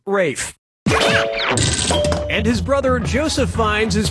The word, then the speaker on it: Ralph: easy player one yep ray fein's first name is spelled like ralph but pronounced rafe his brother joseph finds